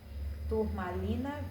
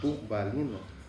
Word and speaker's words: turmalina: Turmalina verde. Turbalina? Turmalina. Turmalina. Isso. É turmalina mesmo, como se fala.